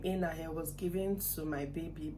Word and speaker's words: Enake: I don't know if other part of Edo State pronounce it differently, but my in-law side is called Enahe, even if the spelling is like Enake, like the K is silent in pronouncing.